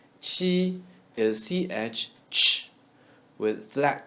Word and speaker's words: 气: Qi is cheese with flat tongue. Cheese, cheese. Drop s, qi.